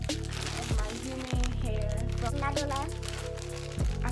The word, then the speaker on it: NADULA: So now I'm gonna show you guys my bundle of my human hair from NADULA. I said that so ugly, y'all. I just want to make sure I said it right. NADULA.